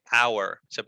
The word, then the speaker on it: hour: Es solamente que en este caso, claro, hour. No se pronuncia la H acá.